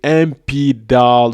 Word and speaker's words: MIPDaL: I speak about all those things and today today friends I am taking you on a journey to the MP DAL scholarship. The MP DAL scholarship is spelled MIP D A L MP DAL scholarship.